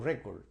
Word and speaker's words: record: Okay o record Okay aquí cuando funciona como noun cuando funciona como sustantivo Pues también tiene la fuerza de pronunciación aquí el acento en la primera sílaba Okay record Okay record Okay record record en la en la primera sílaba Okay the Stress is on the first syllable la la acentuación está